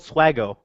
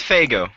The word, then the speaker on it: Faygo: it's guys guys guys it's called swago God damn it it's Faygo f-a-y it's f-a-y-g-o space